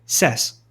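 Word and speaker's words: says: O som do verbo fica mais aberto quando recebe o s da terceira pessoa. No caso de say, sim, fica sess. Ok?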